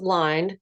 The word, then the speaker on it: Lynde: I don't care but everybody pronounces my name the way you did it's actually pronounced lined you can blame my